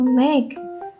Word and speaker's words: make: Tulisannya kan make, tapi kita bacanya cuma make. E-nya nggak dibaca.